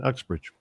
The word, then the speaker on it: Uxbridge: Is that the way you pronounce that? Yeah, that's right, Uxbridge.